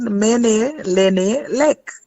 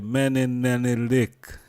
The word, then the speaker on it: Menelenelek: We're speaking with a special guest from the EWF, Empress Menelenelek. Menin. Yes, the Menelenelek. Menelenelek. You see that going? That's Go right. and do all of that. You were saying it good. Menelenelek. Okay, Menelenelek.